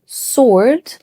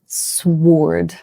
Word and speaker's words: sword: Okay, number 8, sword. This one is fun. The W is silent, just like to or answer. So we say sword, not sword.